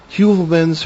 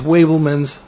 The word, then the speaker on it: Heuvelmans: I've heard this pronounced several ways: Heuvelmans, Wabelmans, and Heuvelman. I've heard that pronounced as well.